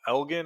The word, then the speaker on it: Elgin: rank within you know I always butchered this name Elgin I believe is how you say it Plainfield Shorewood and then